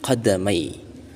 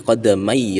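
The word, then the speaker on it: قدمي: Jadi bacanya itu min tahti qadamai rajulin, qadamai mai, bukan min tahti qadama.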